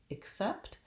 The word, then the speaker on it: except: all fruit except bananas we have second syllable stress and that means my clear vowel set is on the second syllable and my first syllable